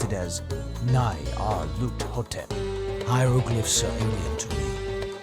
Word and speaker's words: Nyarlathotep: The director of the museum pronounced it as Nyarlathotep.